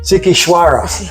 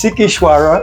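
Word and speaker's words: Sighișoara: out with it what favorite how do you pronounce it again sikara yes yes sikara in Transylvania we we we loved it fell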